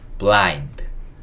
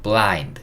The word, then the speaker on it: blind: 요 i가 i라고 읽겠네요. 그쵸? 그 다음에 n은 니은 받침, d는 디귿 소리. 그래서 요거는 blind, blind 이렇게 읽을 수 있고, blind, blind.